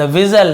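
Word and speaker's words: whistle: उसने क्या बजाया, द विजल, इसे विजल पढ़ेंगे, टी साइलेंट होता है, विस्टल नहीं पढ़ेंगे, विजल, विजल यानी सीटी,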